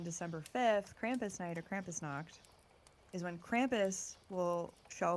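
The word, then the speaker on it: Krampusnacht: of this on me Krampus knocked this is how it's pronounced okay so so what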